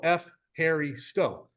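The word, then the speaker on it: ευχαριστώ: you in greeko or you can just go f Harry Sto and that's how you say it very easily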